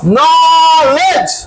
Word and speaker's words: knowledge: knowledge.